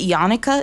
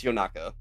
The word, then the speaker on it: Yonaka: His name is Is is it Yanuka? Is that how you pronounce it? Uh, it's Yonaka. Oh, you It's Yanaka. Depending on if you're being depending if you're being formal or not formal.